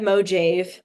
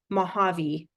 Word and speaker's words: Mojave: By the way, that word, it looks like Mojave, but it's actually a Spanish word. So it's pronounced Mojave, Mojave. It's a weird word though, but anyway, that's how you say it in Spanish.